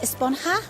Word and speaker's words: Esponja: grande thing has been about huh actually it's pronounced esponja with an H sound at the end really